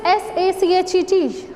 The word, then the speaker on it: sachet: The pronunciation of this is he is lieutenant. Next is S-A-C-H-E-T.